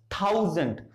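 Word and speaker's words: thousand: अब दूसरे सिलेबल में किसकी आवाज आ रही है? ए की आवाज आ रही है, तो अब यहां पे हम श्वा लगाएंगे, इसको कैसे बोलेंगे? थाउजेंड, थाउजेंड, थाउ and gent.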